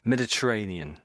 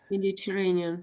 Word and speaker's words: Mediterranean: Some uh names, surnames, pronunciation. Mediterranean sea. Is it correct? Yeah, that's that's pretty good. Yes. Mediterranean. Mediterranean.